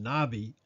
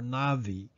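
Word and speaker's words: נביא: in this video is Strong's number fifty thirty pronounced nabi or Navi which means prophecy prophesy or prophet the first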